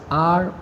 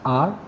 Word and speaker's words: hour: Here we have to notice that the words hour, honest, heir begin with a vowel sound as the initial consonant h is not pronounced.